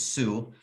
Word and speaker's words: Sioux: spell that for us s-i-o-u-x is sue and then falls f-a-l-l-s